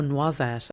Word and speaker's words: noisette: I just was like, oh, noisette rhymes with croisette.